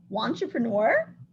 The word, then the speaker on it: wantrepreneur: Wantrepreneur, like a woman entrepreneur. Katie, you think I'm saying it right? Yeah, wantrepreneur. Wantrepreneur.